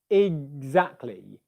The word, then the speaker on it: exactly: um g exactly exactly it's a gur not a curse so it's not it exactly it's you should be able to feel some voicing in your throat there when the pressure builds up and airflow stops in and then from there you do a zed za za za za